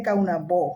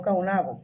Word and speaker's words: Caonabó: O sea, los hijos de Anacaona y de Caonabó, si Caonabó no se hubiese muerto en el trayecto a Europa, y si, porque vuelvo y repito, se dice Caonabó, no Caonabo, pero ya es difícil